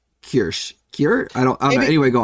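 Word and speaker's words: Kürsch: I believe it's Hansi Kirsch. Yeah, it's for those listening, it's Hansi, then Ku with an umlaut, RSCH. Hansi Kirsch.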